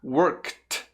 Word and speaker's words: worked: Vai ficar worked. Perceba o som do K primeiro, work. E aí só coloque o som do T, worked. Worked.